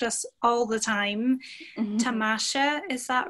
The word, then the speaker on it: Tamasha: Tamasha, is that right? Or is it said a different way? It's Tamasha. It's very, very subtle. Tamasha.